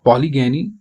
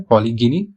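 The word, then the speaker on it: polygyny: Monogamy, पॉलीएंड्री, पॉलीगैनी एंड बायोगैमी। तो उसके लिए जो टर्म यूज होती है पॉलीगिनी और पॉलीगैनी, आप इसको प्रोनाउंस कर सकते हैं।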